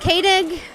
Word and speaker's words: Koenig: We're at SHOT Show at the Ruger booth with the one, the only Doug Koenig. Right, you pronounced it correctly.